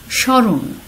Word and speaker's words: স্মরণ: যেমন স্মরণ, প্রথম বর্ণে স্বয়ের সাথে ম রয়েছে এবং আমরা লক্ষ্য করছি উচ্চারণে মফলার কোনো উচ্চারণ নেই, এবং শুরুতে যে আমরা লাল কালি দিয়ে লিখেছিলাম সানুনাসিক হবে উচ্চারণটি, যেহেতু মফলার উচ্চারণ নেই সে কারণে কিন্তু আমরা চন্দ্রবিন্দু ব্যবহার করেছি।